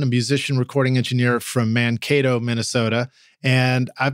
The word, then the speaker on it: Mankato: Am I pronouncing that right? Do you guys say it Mankato like that? Mankato, actually. Mankato.